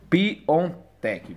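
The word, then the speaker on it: Piątek: cara aqui jk então vocês estão vendo realmente lê-se piontek mesmo bola então é isso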